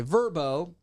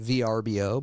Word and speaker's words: Vrbo: Vrbo, most people call it VRBO, but it's pronounced Vrbo.